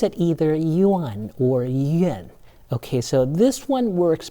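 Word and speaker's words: 燕: When you see the A in these four sequences, the A is pronounced more like an E vowel.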